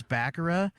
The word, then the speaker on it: Bakura: And I was like, oh no, have I been pronouncing Bakura wrong for all these years? it really is Bakura.